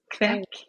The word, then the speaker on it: kveik: Do you know how to pronounce yeast in Norwegian? Yeah, kvek. Kvek? How is it? Yeah, I think it's kvek. Oh, how is it spelled? Kveik. Kvek. It's traditional yeast. Yeah, it would be kvek.